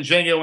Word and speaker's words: Django: up in Django Unchained.